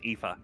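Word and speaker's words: Aoife: It's because Irish is really weird with its pronunciations. It's EA.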